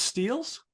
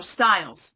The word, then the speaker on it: Stiles: Is it pronounced Steels? No, Styles. Stiles. Good.